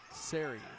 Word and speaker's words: Siri: uh Marshall said that it was Siri like a long a say which it makes